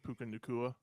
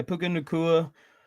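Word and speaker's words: Puka Nacua: Um, they already have what is it, Puka Nakua? Is that how you say it? But yeah, Puka Nakua, who Tutu Atwell.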